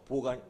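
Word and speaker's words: בוא: 그리고 여기다 알랩을 하나 넣습니다. 이렇게 알랩을 여기 뭐 있죠? 알랩을. 자, 이것은 묵음이에요. 자, 그럼 한번 읽어볼까요? 이것을? 보. 자, 따라해보세요. 보. 보.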